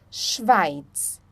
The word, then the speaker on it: Schweiz: Quando nós temos um S antes do CH, nós pronunciamos, então, o som do X, tá? Por exemplo, schwimmen, schwimmen, schon, schon, Schweiz, Schweiz.